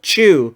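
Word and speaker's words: Chuu: like that so and her name is easy to remember it's just one syllable chew so yeah okay now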